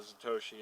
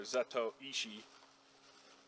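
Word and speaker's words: Zatoichi: name for it, the Zatoshi. It's from the movie Zatoshi, or Zato Ishi, if you're pronouncing it like you're supposed to.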